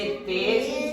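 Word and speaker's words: तेज़: इसे हम पढ़ेंगे राज, इसे कस्म, इसे सजा, इसे गज, इसे तेज, इसे जमाना। और इन्हें हम नॉर्मल जैसे पढ़ते हैं इनका उच्चारण मुंह से होता है, जबकि इनका नुक्ता वाले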